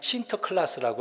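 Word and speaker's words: Sinterklaas: 이름이 있는데 그 사람이 신터 클라스라고 하는 사람이라고 합니다 네덜란드 발음으로 그래요 뭐 센터 신트 그렇게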